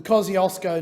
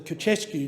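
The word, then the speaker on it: Kosciuszko: black summer bush fires the Kiosco National Park which I have absolutely mispronounced um Madame Deputy uh chair um received generous donations from Poland um they they of course would call it the kesu national park with Australia's borders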